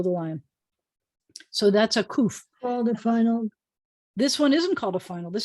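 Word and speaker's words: ק: see the queue because it sounds more like a queue than it sounds like a cough sounds like a k but a koof sounds like a cube you can make them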